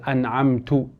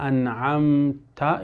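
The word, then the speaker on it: أَنْعَمْتَ: Like for example, the person pronouncing a dhammah on the ta of an'amta. The person says an'amtu or an'amti. Sirata alladhina an'amta is Fatiha.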